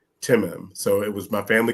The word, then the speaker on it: Tim'm: So when people try to call me Tim or T, I said, no, it's okay. You can say my name. You can stutter. It's okay. Timim.